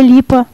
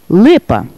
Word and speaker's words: Липа: «Ви знову до мене, майбутнє медично, світило ім'я Ліпа?» На що дістав гідну відповідь Юрія. «Прошу шановного професора, але моє прізвище пишеться і читається саме так – Липа».